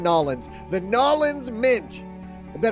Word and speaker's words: New Orleans: That's how you pronounce that. New Orleans? Nolans. We're going Nolans.